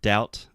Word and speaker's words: doubt: that so the word doubt first of all the B is silent was on the bamboo